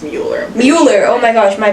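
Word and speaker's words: Müller: She won Hockey East Co-Player of the Year alongside Alina Muller in 2021, which I think is really funny. Her name is pronounced Mueller.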